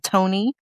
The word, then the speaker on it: Toni: It's Miss Toni and the Macaroni Band because macaroni rhymes with Tony.